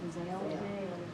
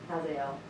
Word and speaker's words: Hazael: So he sends here, how would y'all pronounce his name? Hazael. How? Hazael.